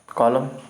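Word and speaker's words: column: कॉलम, कॉलम होता है, इसमें एन साइलेंट है।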